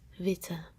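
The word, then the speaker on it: witte: the same pronunciation so if it would be one t we pronounce it as vita you pronounce it longer and that's wrong that's why we add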